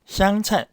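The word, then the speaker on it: 湘菜: 7번째는 호남을 다른 말로 향의 향, 향차이. 제가 광주 살 때 향차이 요리집에서 자주 먹었습니다. 발음이 우리가 고수라고 하는 음식 향차이하고 발음이 똑같네요.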